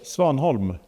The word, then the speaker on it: Svanholm: He has a surname, but it's impossible for me to just pronounce the surname. Can you tell us your surname properly? Svanholm.